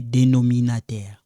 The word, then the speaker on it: dénominateur: Now we have the one in the bottom we call les dénominateurs, okay. So I want you guys to know how to pronounce this in French, okay? Le numérateur, le dénominateur, okay?